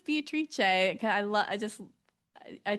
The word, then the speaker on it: Beatrice: current partner about um I love how they pronounce the name Beatrice in Italian which is Beatrice. So I would love I think I would choose that name, but that would be one that no one would pronounce correctly cuz they would see Beatrice, but I would be like, "No, it's Beatrice."